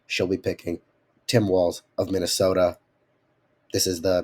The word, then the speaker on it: Walz: Harris and Tim wall Tim Walls trying to pronounce that last name it sounds like there's a t in it all the time but it's only wz um anyway Trump Vance you're